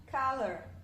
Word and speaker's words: color: Aí no início tá A, lembra do Vzinho pra baixo? A. E o schwa no final, color, color.